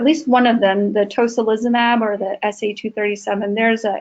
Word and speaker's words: tocilizumab: I believe at least one of them, the tocilizumab or the SA237, there's an analog of that is currently being used, I believe, in maybe psoriatic arthritis.